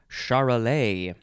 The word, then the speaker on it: Charolais: at the top of page 209 it is pronounced charolais it is spelled capital c h a r o l a i s charolais noun from 1893 any of a breed